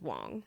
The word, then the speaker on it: Wang: What we read as Wang is often pronounced Wong.